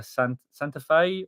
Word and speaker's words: Santa Fe: We stay either Santa Fe or Cheyenne. Oh, well done. You pronounced them correct, you.